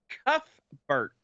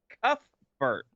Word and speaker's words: Cuthbert: It is pronounced Cuthbert. Cuthbert.